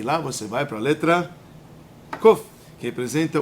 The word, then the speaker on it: Kof: continuar o livro Como é que a gente pronuncia essa essa palavra essa letra let a letra é Kof Tá certo e Kof nós falamos em hebraico